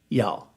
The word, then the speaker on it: y'all: turn into 2 syllables, there is one that we take 2 syllables, 2 words, and turn it into 1 word, 1 syllable. You all, we just say y'all.